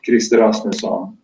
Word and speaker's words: Gylseth: A friend of mine, and his name is Gylseth, and you might hear that that's with the Swedish pronunciation, and he's from Sweden.